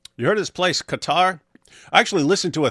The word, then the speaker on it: Qatar: Well, the original Arabic is just Qatar. And since we don't have the sound in any other language, by which I'm exaggerating, the q sound, it gets so difficult.